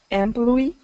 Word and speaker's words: employee: So this one is a stress. I'm going to change the stress on you. So employee. So we're going to actually stress or emphasize that last part. Employee. Smart. Employee. Employee. So do this. Oi. Oi. Oi. Employee. Oi. Oi. Ploy. Oi. Ploy. Yeah. Ploy. Ploy. Ploy. Uh-huh. Ploy. Employee. Employee. Employee. Yeah, there you go. Employee. Ploy. Yeah, ployee. So it's the same sound as Employee. like boy, boy.